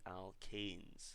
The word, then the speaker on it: alkanes: So it's a very, very subtle difference, and it's a slight pronunciation change as well. When it's E-N-E in this case, it's the alkenes, and the last homologous series that we looked at when it was A-N-E was the alkanes.